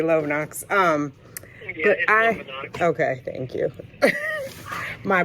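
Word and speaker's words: Lovenox: day i start the love knocks love knox i know i say it wrong it looks like love knocks and after i say it i'm like oh yeah they say love knox um okay thank you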